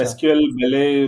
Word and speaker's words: SQLBelle: एसक्यूएल बेले pronounce होता है उनका नेम।